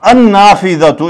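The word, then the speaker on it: النافذة: साथ अल लगाना है तो अल लगा के हम क्या करेंगे अल नाफिदातु, तो अन नाफिदातु इसमें लाम साइलेंट हो जाता है, अन नाफिदातु हमने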